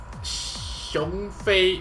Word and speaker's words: Xiong: And here we have a six-star fully leveled awaken shi. That's how it's pronounced.